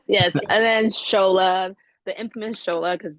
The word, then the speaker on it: Tsola: and then scha the schola because the T always trips people up but it's pronounced schola but spelled TS o l a and then Alexandria yeah